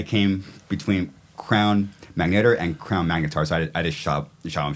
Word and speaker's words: Crown Magnetar: I thought I came between Crown Magneto and Crown magnetars I just shoved the Sham shot you know